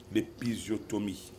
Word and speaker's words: épisiotomie: Aujourd'hui, on s'intéresse à, vous prononcez souvent bien, les Garènes, l'épisiotomie.